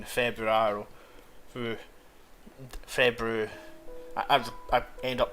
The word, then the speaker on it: Februaro: I don't know if I'm dropping the R's. Februaro. Like whenever it's the start of something, it's like, yeah, I can pronounce it with the swinging rolled R, but it's swinging Februaro.